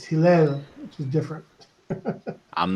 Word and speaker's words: Hillel: It's actually Hillel, but I'm not counting it against Rick because even I can't say my name right over here. So how is it pronounced again properly? Hillel.